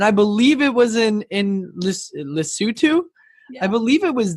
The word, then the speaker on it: Lesotho: Lesotho.